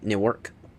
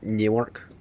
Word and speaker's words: Newark: So I always say Newark. Not not not to be confused with New York but Newark.